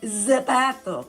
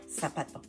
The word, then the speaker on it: zapato: So we don't say zapato. We say zapato. Zapato. We say zapato. Like, think of this when you pronounce. You want to put some sign there to remember. Pronunciation soft as an S.